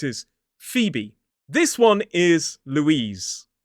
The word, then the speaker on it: Louise: So it is L, U, E, Z, Louise. It is not Lois or Louise. It has got that Z sound at the end.